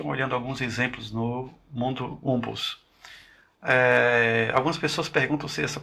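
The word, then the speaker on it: Wumpus: alguns exemplos no mundo Umpus. Algumas pessoas perguntam se essa pronúncia Umpus é correta, então parece que a pronúncia é mais ou menos do tipo Wampus, né? Wampus.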